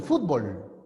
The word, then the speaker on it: fútbol: Para ellos la palabra es aguda. Nosotros decimos el fútbol. Para nosotros es grave.